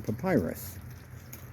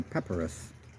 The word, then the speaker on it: papyrus: It is Egyptian papyrus, or as the British say, papyrus.